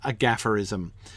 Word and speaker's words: gafferism: That must be a gafferism. Ooh, what a great word! Gafferism rhymes with aphorism, right?